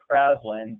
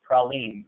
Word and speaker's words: Praslin: That word looks like Praslin, but it's not. It's Praline. The Seychelles Islands are French, and originally, and so you name it the proper pronunciation, Praline.